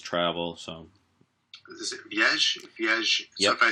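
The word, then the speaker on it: viagem: Viage.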